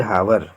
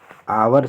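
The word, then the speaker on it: hour: He will take a हावर to finish this work, हावर में जैसा कि जानते हैं कि आवर होता है, आवर से उच्चारण होता है, इसलिए आवर में एन लगेगा।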